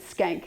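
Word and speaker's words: Schenck: robert skank says and that's really how you say his name at skank he they uh teased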